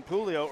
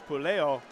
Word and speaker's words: Puleo: for the quadfather's so apparently I was mispronouncing Puleo earlier as Pelayo again I grew up